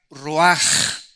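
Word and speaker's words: רוח: es la palabra hebrea Roach que se pronuncia raj la ch en el hebreo se pronuncia como j y que es la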